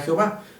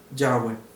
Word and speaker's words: Yahweh: Y si le damos la fonética correcta, vamos a ver que no coincide con el título convencional de Reina Valera Jehová, sino que coincide y la forma correcta de traducirlo es Yahweh.